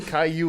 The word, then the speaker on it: Caillou: can tell you reading the comic its Caillou Caillou is how you pronounce look I can't read my shoes okay